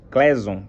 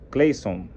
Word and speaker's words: Clason: do autor George S clason Cleison acho que essa é a pronúncia aí então hoje vamos